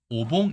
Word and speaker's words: 御: 으로 표기 되지만 , 존댓말 을 뜻 하는 ' 건우 ' 는 ' 오 ' 로 발음 합니다 .